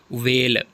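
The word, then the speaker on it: whale: इसमें L silent है वेल जो मछली होती है एच साइलेंट है रंग इसमें डब्लू साइलेंट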